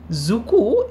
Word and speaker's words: Dzükoü: জুকু এই জ উচ্চারণটা কিন্তু একটু অন্যরকম।